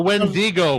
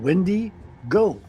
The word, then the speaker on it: Wendigo: You placed the wrong emphasis on the incorrect syllable. It's because it's two names. First of all, it's a she. She's called Wendy Go.